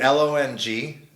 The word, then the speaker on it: Longarini: The Mona Lisa, you can follow me on Instagram, Longarini. Nice. Or also on Facebook, Longarini. And Longarini is spelled? Rhymes with Lamborghini. Lamborghini, Longer. Yeah. Okay. Longarini.